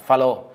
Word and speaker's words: Fallot: t như là vì Ông là người Pháp cho nên đơn thuần Chúng ta đọc là Flo người Mỹ là đọc followed hay là chắc chắn